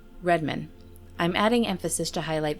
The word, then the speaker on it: Redman: Both are pronounced the same, Redmond.